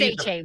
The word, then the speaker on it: Achane: We know it's A-Chain.